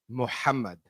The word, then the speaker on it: Muhammad: All right, my name is Mohammed. It's actually pronounced Muhammad.